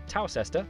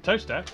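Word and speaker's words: Towcester: to mousehole mouthhole next travel north up to tower sester toaster then a quick jaunt to gotham goatum followed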